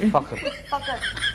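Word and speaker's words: Fakhar: फखर।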